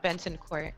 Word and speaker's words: Bentancourt: i've been you know is it banting court or bannon court you did a great job benton court okay there we go